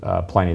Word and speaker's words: Pliny: in there it referenced Pliny the Elder, or Pliny the Elder is the proper way to say it.